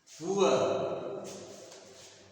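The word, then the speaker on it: poor: जैसे होता है, इसका उच्चारण हम लोग श्योर बोलते हैं, ये भी गलत है, इसका उच्चारण होता है सुअर, सुअर, टूअर, सुअर। तो और ये उसी तरह से जैसे पुअर, पुअर, तो अगर इसको पढ़ेंगे तो कहते हैं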